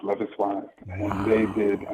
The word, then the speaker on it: Loveis Wise: Is that, do you pronounce the name Loveis Wise? Yes, their name is pronounced Loveis Wise.